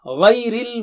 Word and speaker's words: غَيْرِ: Ghay. Gha is thick and high. Okay. And only when you practice syllables, I will show the TPI signs. You should not do it while doing tilawa. Don't do like this. Okay. So gha is thick and high, and ya is thin.